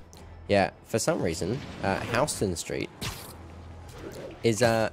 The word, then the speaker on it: Houston Street: over in NoHo yeah for some reason uh Houston Street is uh spelled the same as Houston but it's pronounced Houston so you've got north of Houston Street I think this might not be your car